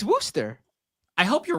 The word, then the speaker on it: Wooster: me I'm wrong are they really no it's Wooster I hope you're wrong cuz that is a